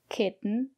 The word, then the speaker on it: kitten: or t-o-n for example kitten mitten written cotton button flatten and in this case we pronounce the letter t as a stop t put your tongue up and stop the air don't release the air